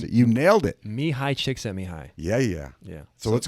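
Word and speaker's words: Csikszentmihalyi: times and i'm so afraid to try and pronounce it you nailed it me high chick sent me high yeah yeah yeah so let's go through them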